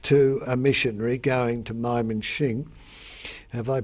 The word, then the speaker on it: Mymensingh: had become engaged to a missionary going to Mymensingh. Have I pronounced that correctly? Yeah, Mymensingh, yes.